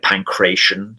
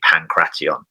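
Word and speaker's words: pankration: pancre to some degree uh they call it pancre sometimes in in in the West but um it's actually pronounced originally pantion which means to master all like pan is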